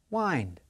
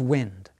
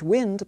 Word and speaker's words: wind: Time, wind. Let's end with a quiz. Read the following sentence and pronounce the underlined word. The answer is wind. A light wind blew through the trees.